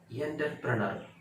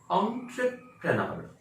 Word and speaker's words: entrepreneur: तो उधर ई शब्द आ रहा है, सॉरी ई लेटर आ रहा है, तो ई का प्रोनाउंसिएशन एंटरप्रेन्योर नहीं है, entrepreneur होता है, राइट, entrepreneur।